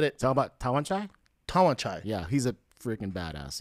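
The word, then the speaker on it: Tawanchai: Tawan Chai.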